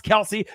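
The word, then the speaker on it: Kelce: george kittle the next travis kelsey travis kels all right however you want to say it since we pronounced his name wrong the last 10 years all right not a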